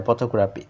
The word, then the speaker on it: photographic: version of the word in the base word photograph the primary stress falls into the first syllable and it is and it is shifts in the photographic but when IC is additive from photographic photographic the stress move the syllable immediately before the suffix this shows that the